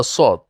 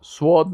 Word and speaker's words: صاد: اما صاد، صاد، سواد نگوین، واو زیاد نکنین. صاد. صاد. بعضی کسا میگن سواد. سواد غلط است.